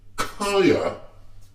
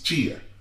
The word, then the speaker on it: chia: These people, how do you say chia? Kaya? No, right? It's chia. I in chia.